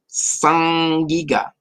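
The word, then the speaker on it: saĝ-gíg-ga: It's like the it's an interesting way to pronounce the. You don't have like sag like you would see it spelled. It makes the like the ing is a throat.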